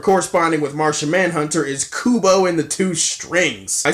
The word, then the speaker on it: Kubo: name wrong all year I said it with cube oh it's kubo mistake fixed ironically